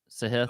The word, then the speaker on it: Sahith: He said it's pronounced Sahith. Sahith. It's more of a he, not a he.